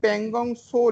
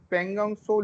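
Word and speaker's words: Pangong Tso: আচ্ছা, আরো একটা জিনিস বুঝুন, এই যে প্যাংগং সো লেক, টি এর উচ্চারণটা হবে না, প্যাংগং সো লেক যেটা রয়েছে, এই প্যাংগং সো লেকটা লাল কালি দেবো বলে মুছে দিলাম।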